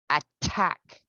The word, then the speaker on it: attack: Now, looking at the stressed syllable, we're looking at the first one, attack. Attack. Tag. extort, Extort. detain, Detain. hesitate, Hesitate. sustain, Sustain. maintain. Maintain. Very good. And they all have the true T sound.